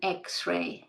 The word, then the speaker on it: X-ray: Sometimes we see a consonant letter like X, but if you think about it, X begins with the sound E. So an X-ray, not a X-ray.